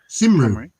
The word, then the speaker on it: Cymru: Gymru is spelled... No, it's Cymru. Simru.